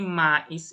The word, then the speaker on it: mais: Jadi mais ini ya, mais ini, cara bacanya cuma me, me, me, me.